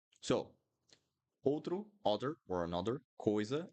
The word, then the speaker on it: coisa: Other thing that is important in Portuguese, guys, when you have two vowels or three vowels in a word, you need to pronounce each one. So coisa, coisa.